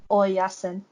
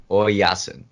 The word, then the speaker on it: Oyasin: Oyasin. Oyasin.